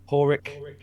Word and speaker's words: Padraig: Porrick, as in Padrick. It's spelt Padraig, but it's an Irish name.